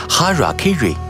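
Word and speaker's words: hara-kiri: In the Samurai tradition one form of ritual suicide or seppuku was hara kiri, which was often mispronounced as "hairy cairy".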